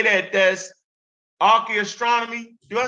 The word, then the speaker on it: archaeoastronomy: That's archaeoastronomy.